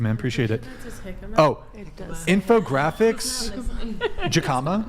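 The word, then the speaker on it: jicama: Hickama, by the way.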